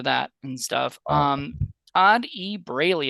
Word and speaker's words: Braley: pronounced something differently yeah I get called Bradley a lot they think there's a d there yeah somehow some way somebody's dyslexic and they they find a D in there you know it was